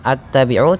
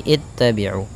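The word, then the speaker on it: اتبعوا: Maka di sini ittabi'u, bacanya bukan attabi'u tapi ittabi'u.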